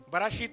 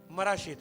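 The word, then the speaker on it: מראשית: बताना आपको चाहता हूं वो है मराशीत। बराशीत नहीं, मराशीत।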